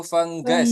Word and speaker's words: fungus: Nah, dibacanya itu fenggas, Teman-teman. Oke.